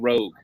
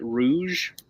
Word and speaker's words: rogue: what organization before going rogue? Some pronounce it Rouge. They're wrong. It's a different word. French for red.